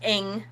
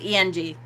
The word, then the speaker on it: Ing: thank you uh it's i knew it was pronounced ing i thought it was eng eng vey free thank